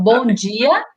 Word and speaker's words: Bom dia: and look for bom diaya or Bom dia. diaya. They Mhm. mispronounce it, and it's a song.